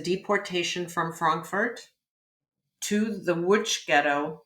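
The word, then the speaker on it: Łódź: from Frankfurt to the witch ghetto it's spelled l-o-d-z and pronounced witch um to the witch ghetto in Poland and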